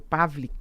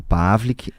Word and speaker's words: Pawlick: Então tá certo, conversei com o doutor Pavlik, que é advogado previdenciário. A gente acha o senhor aonde? Nas redes sociais? Perfeito. Como, aliás? Né? Perfeito. O meu Instagram é Pavlik. Pavlik.